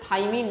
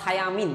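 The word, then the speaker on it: thiamine: ওয়ান ভিটামিন বি ওয়ান এর রাসায়নিক নাম হচ্ছে থাইমিন বা থায়ামিন যে যেভাবে প্রোনাউন্সিয়েশন করে আর কি সো থাইমিন বা থায়ামিন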